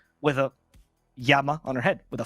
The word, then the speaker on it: llama: you don't know in in spanish lama right it's spelled l-l-a-m-a right yama right yeah and uh it